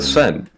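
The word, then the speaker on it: Seine: ] River name how do you go about pronouncing it in French we would say sen laier the sen the sen River I didn't know how to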